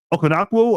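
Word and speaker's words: Okonkwo: their tight end chick Okan Okanaku I believe is how you say it.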